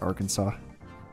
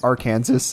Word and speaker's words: Arkansas: friend who just found out that Arkansas is pronounced Arkansas like at the end of this what were they saying it as Arkansas oh my gosh which I mean fair enough